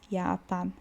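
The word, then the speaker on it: Japan: Olha o J tem som de Y. Ok. Yapa.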